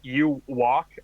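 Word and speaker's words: Yhwach: from wikipedia yeah basically it's pronounced you walk except like merge the two words together more you are and the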